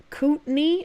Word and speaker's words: Kootenai: It's pronounced Kootenai and Coeur d'Alene.